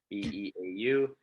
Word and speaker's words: Beau: Beau spelled like beautiful, Beau, and like the car, the bean, or the horse.